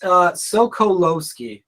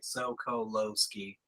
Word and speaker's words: Sokolowski: Now, say your last name again, because it's Sokolowski. If you kind of like break down it, if you break my last name down by like 2 letters, it reads kind of phonetically. Actually, it's like Sokolowski.